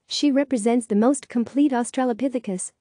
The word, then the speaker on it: Australopithecus: a cave today she represents the most complete Australopithecus pronounced Australopithecus skeleton and is helping researchers to learn more